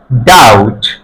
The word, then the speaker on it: doubt: ডি ও ইউ বি টি ডা ও ডাউট ডাউট।